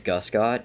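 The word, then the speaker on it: Guscott: last name I wasn't my last name is Gus got GU SCO TT I've only it's only been pronounced correctly on the first try once I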